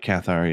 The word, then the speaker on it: Cathar: that wasn't yeah yeah i think it's pronounced uh cathar yeah so that's the